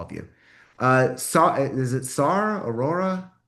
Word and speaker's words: Aurora: Okay, so yes, my name is Aurora. You pronounced it correctly.